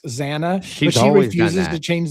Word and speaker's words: Xana: No, with Xana. Okay. Gotcha. Maybe. Any social media? You notice it's a small bitch, but you notice how the officer constantly says Zaina, and he constantly corrects Xana, but she refuses to change the pronunciation.